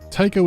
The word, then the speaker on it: Tycho: Tycho is here and actively devouring the other AI. Someone's after you personally. 1 word, 2 syllables, rhymes with psycho.